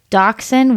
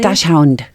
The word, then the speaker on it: Dachshund: The one at the top of my list is a Dachshund. We call them Doxies because I don't think I can pronounce it properly. Dachshund.